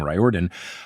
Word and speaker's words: Riordan: it, or at least going against the traditional pronunciation of Riordan, him saying Riordan.